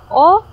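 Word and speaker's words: を: And of course, if we have direct object, kasunod niya ay O, written Eiga by Wo, like this, but pronounced as O.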